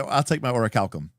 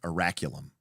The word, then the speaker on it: orichalcum: I'll take my orichalcum. Boothby prefers my pronunciation. That's why I like Boothby. I want to say, I think when we were young, before we looked it up, we called it oraculum.